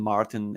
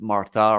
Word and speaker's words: Martin: name i understand that in french martin isn't martin it's martha right i mean pronounce it how you feel it yeah yeah sure so for you guys who are outside of france uh martin in french you will say martha so yeah i but